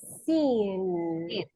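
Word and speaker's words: seen: careful with the pronunciation you need to pronounce the letter N sin because at the contrary it will sound like the simple present see okay L yes we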